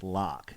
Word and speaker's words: Lach: She's now Carrie, I think it's pronounced Lach, L-A-C-H. But anyway, Carrie sent Kelly and I a really thoughtful, wonderful anniversary gift, and really it was more for me.